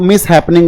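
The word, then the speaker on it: mishap: और इसी से एक वर्ड बनता है जिसके साथ बुरी किस्मत चल रही हो, मिस हैपनिंग हो गई हो, उसके लिए होता है मिस हैप। इसको प्रोनाउंसिएशन मिसहैप होती है, मिस हैप, मिस हैप, और इसी से मिस हैपनिंग।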